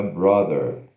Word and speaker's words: brother: Não é bro, não é O de olho, é brother, tá? Tem essa diferença aqui.